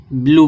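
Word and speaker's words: blew: अब ई डब्ल्यू को उच्चारण क्या निकलेगा, बड़ा ऊ। तो इसको क्या पढ़ देंगे, बी एल ई डब्ल्यू क्या पढ़ा जाएगा, ब्लू पढ़ा जाएगा, ब्लू।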